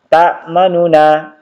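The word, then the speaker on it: تَأْمَنَّا: Jadi cara membacanya ta'manna. Jadi pada saat masuk ke nunnya itu bibir dimonyongkan sebagai pengganti dhamma yang terbuang.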